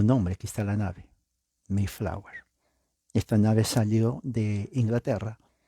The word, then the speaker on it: Mayflower: lo que se llama el documento mayflower así se pronuncia la a e en inglés mayflower compact Acá hay un